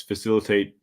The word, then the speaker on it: facilitate: the um you can facilitate standups daily stand-ups facilitate Sprint planning retrospectives backlog grooming conflict resolution it's